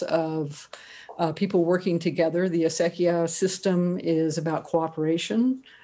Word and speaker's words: acequia: about this very ancient water delivery system called acequias. And it's a huge, deep part of the culture. Can you just spell that so we can look up later?